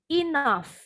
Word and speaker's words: enough: GH ini bunyinya sama dengan F. Enough, cough.